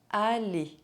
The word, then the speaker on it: aller: The final R of the infinitive of verbs ending in ER is not pronounced. Manger, aller, penser.